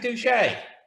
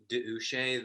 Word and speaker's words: Doucet: Patrick Doucet, welcome to Business Talk. It's actually pronounced Douchet. The apostrophe means that there's a slight pause.